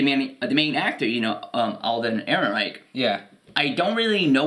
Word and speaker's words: Ehrenreich: I wrote down, like, Aaron, like the name Aaron, and then Aaron Reich, like, Third Reich.